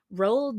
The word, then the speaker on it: Roald: This is Matilda by Roald Dahl. I don't know how to say his name. I always thought it was Ronald. There's no N in his name.